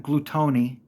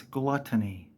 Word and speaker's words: gluttony: was being gluttonous he's a glutton gluttony not gluton or gluteny it's gluttony I cannot fathom people not understanding how to pronounce the word gluttony okay um there are